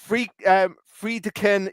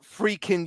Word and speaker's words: Friedkin: Friedkin University. No, it's pronounced Freaking University.